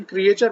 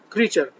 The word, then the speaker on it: creature: If when you are walking around your yard, you meet a creature, CREATURE, इसका बहुत से लोग pronunciation क्रिएचर बोलते हैं, इसका सही प्रोनाउंसिएशन है क्रीचर।